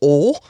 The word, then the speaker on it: Ole: It's spelled O-L-E. And I was like, his name is Ole? Yes. Well, they pronounce it Ole, though.